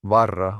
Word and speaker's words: Varra: just say you pronounced the album title so correctly? Probably because like Sami and Finnish are in the same language group, but there are so many people who don't have the R, the varra.